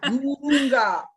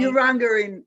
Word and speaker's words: Urunga: You're in Urunga. Is that how you say it? Actually, that is almost how you say it. Urunga in Gumbaynggirr. Okay, okay. Urunga in English.